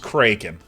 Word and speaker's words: Kraken: It is pronounced Kraken. As the Jack Proletsky poem goes, the Kraken has awakened from the bottom of the sea.